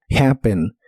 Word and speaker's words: happen: de inglés es happen la H se pronuncia como una J suave de español y aunque tiene una doble p se pronuncia como una p normal happen happen en el presente